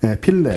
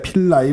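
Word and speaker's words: Philae: 로제타, 필레, 필레. 필레, 필라이 뭐 여러 가지로 발음을 하더라고요. 그래서 필레가 내렸었잖아요.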